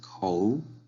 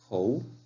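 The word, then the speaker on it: 口: Aquí tenemos un carácter muy utilizado en chino, que es kou, que significa boca, kou.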